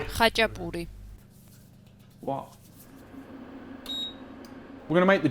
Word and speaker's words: Khachapuri: This week, brothers and sisters, Khachapuri, which is not the right pronunciation by any stretch of the imagination. Khachapuri. Khachapuri.